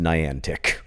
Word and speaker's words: Niantic: Trust me, I work at Niantic, which, for the record, since we're making corrections, is pronounced Niantic."